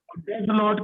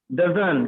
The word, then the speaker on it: Doesn't: डज नॉट की short form जो होती है वो होती है Doesn't. डजन। क्या होती है? Doesn't. डजन। टी साइलेंट होता है। यहाँ डोंट में भी टी साइलेंट होता है। बोलेंगे ही डजन।